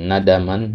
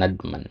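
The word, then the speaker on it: نَدَمًا: Kemudian nadaman. Nadam ya bukan nadman.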